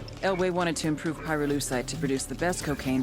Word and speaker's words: pyrolusite: You know what pyrolusite is, right? Yeah. Neither did I. Pyrolusite, key syllable pyro, by the way, is the [